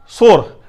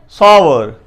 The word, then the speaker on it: sour: मैं भी काफी अर्सा तक इसे सोर ही पढ़ता रहा, बट एक्चुअली वो गलत था। इसकी जो प्रोनाउंसिएशन है वो सोर नहीं है बल्कि इसे SAA, सा, SAA, सा, WER, वार, सावर, सावर। इसमें जो W है, ये वाला W है, वाह है, वाह की जो आवाज है वो थोड़ी धीमी रखनी है।